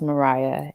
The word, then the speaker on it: Maria: Yes, it's spelled like Maria, but Hmm. it's actually pronounced Mariah, Maria.